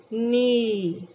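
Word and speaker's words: knee: Mean बाजू, ए, ए, नी, नी, नी mean घुटना। प्यारे बच्चों, यहाँ पे के लेटर की साउंड नहीं आएगी, के यहाँ पे साइलेंट लेटर है।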